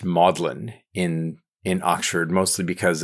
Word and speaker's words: Magdalen: the Mary Magdalene um the the word is pronounced modlin in in Oxford mostly because of its latinization um and Lewis was a member of modlin college as a tutor for 29 years um